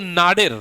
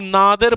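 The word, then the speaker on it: nadir: नाडिर, कई लोग नादिर पढ़ते हैं, कई लोग नाडिर पढ़ते हैं, it's totally up टू you. Pronunciation पूरे पैन इंडिया के अंदर सारी सही मानी जाती है, कोई गलत नहीं मानी जाती है, ये बात ध्यान दीजिएगा।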